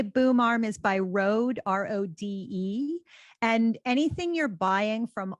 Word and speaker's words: Rode: My boom arm is by Rode, Rode. And anything you're buying from Audio Technica, from Rode, or from Shure, which is spelled with an H, Shure, they are reputable,